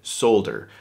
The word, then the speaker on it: solder: put back in but in the american english vernacular you did not pronounce the l so if you go